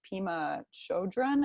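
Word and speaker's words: Pema Chödrön: have personally been reading I don't know if you've heard of Pema Chodron I think is how you pronounce her name she's a Buddhist nun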